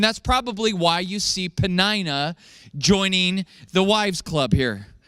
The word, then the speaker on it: Peninnah: Elkanah had 2 wives, Hannah and Peninnah. You might want to say Peninnah or Panera. I don't know how you want to say it, but I choose to pronounce it Peninnah.